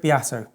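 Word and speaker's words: Beato: seven so oh yeah yeah actually was rick biato okay that's how you say his name um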